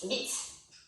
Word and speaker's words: vite: In French, it would be vite. Spell it?